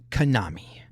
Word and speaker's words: Kanami: Uh we have the next in the lineup of the documentaries, the docu series uh with Konami.